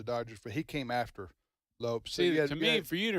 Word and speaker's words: Lopes: Well, not well, he pronounced it. Uh, it wasn't actually Lopez. Uh, he's a Hispanic guy. Yeah, it was Lopes. L O P E. Wow. Wow. I am impressed. I'm impressed. Seriously. Yeah. Lopes.